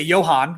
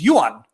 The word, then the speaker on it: Johan: friends, and things like in America we say Johan, which might be the German way, and my Swedish friend's name Johan is Johan. Now I'm probably pronouncing it wrong anyway, but it's Johan or Johan. And I had to learn to pronounce it right.